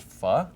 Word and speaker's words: pho: or something like that, I'm going to go for this. And it's pronounced fu.